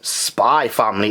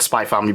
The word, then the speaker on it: Spy x Family: but yeah i called spy family because this x is silent like hunter hunter yeah so this is